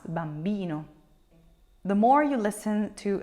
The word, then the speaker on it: bambino: stressing that syllable Bambino you're not gonna say Bambino so the accent is not on the first syllable but it's on the second to last Bambino the more you listen